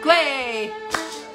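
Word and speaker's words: Kwe': Gway.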